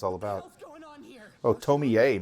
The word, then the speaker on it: Tomie: it's all about oh tomier not just Tony yeah Tomi I thought he just told me that last e must be pronounced like a name oh oh gruesome they